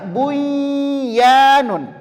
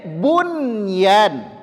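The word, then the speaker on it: بنيان: kelihatan dari segi penulisan seharusnya ini kita baca duya betul dari segi penulisan kita baca buyanun tapi tidak membacanya Dunya diizharkan Dunya kemudian bunyan bunyyan qtinwan tinwan sinwan semuanya dijelaskan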